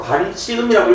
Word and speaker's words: 반치음: 그래서 그 첫 번째로 우리 세모가 아니고 이제 앞으로 반치음이라고 읽어줘야 된다, 알겠지?